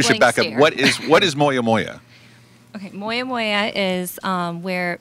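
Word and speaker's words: Moyamoya: Yes, it's called Moya Moya.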